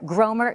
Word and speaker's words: Gromer: And from the Dallas Morning News, political writer Gromer Jeffers. Candidates, let's bring... Oh, wait. I'm sorry. His name is not Gomer Jeffers. It's Gromer Jeffers?